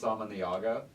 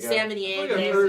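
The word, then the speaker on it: Samaniego: The reliever that they gave up, his name was Tyler, I believe his name is pronounced Samaniago. Yes, Samaniago.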